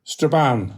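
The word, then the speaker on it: Strabane: I've been apologize if I mispronounced the name of your hometown. Let me try it out. Stra Straban. Straban.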